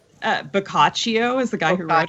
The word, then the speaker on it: Boccaccio: of in grad school that's how you say it boccaccio cuz I was trying to read I was turned I was trying to read it was like Bochy I was just so